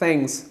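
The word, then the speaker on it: thanks: हम इसे ऐसे प्रोनाउंस करते हैं। थ थैंक्स।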